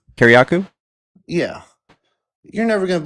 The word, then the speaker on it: Kiriakou: Hey, I saw your guy John Kirioku. Is that how you say his name? Kiriakou?